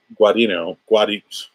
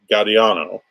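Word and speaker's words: Gaudiano: the show, Trevor Hairsine and Stefano Guadino. I always screw this up. Stefano Guadiano. That's how you say it.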